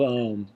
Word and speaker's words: Om: chalkboard and it's got 40 O's across it and 10 M's across it, right? 40 O's, 10 M's. We're just pronouncing that word. Om, right? Most of your exhalation is given over to the O part.